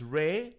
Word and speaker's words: Rai: Okay, so that's why R-A-I is pronounced Ray.